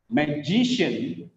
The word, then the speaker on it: magician: Magician. Second syllable is stressed.